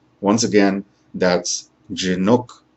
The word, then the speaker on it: Jhinuk: college of business and my name is dr chinook once again that's jinok i recognize that for some of you